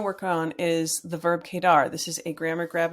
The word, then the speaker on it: quedar: how to say it the Q and The U is a Ka sound like the letter k in English so anyway kedar has many uses in